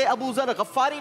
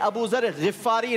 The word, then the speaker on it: अबू ज़र गिफ़ारी: ये हजरत अबू ज़र गफ्फारी नहीं है, बल्कि इनका सही प्रोनाउंसिएशन है हजरत अबू ज़र गिफ़ारी रज़ियल्लाहु अन्हु।